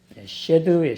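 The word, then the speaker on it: שד: 귀신 들렸다는 단어가 쉐드예요. 쉐드. 그 원문 발음과 사전의 뜻 보시면은 밑에 있지요.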